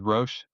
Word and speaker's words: Roche: You've commercialized software with is it pronounced Roche? With Roche, yeah.